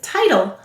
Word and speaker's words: title: All right, the first syllable is tie. Let's sound it out. T-I. This is an I-E-Y. The second syllable is tul. T-ul. That's right, silent final E.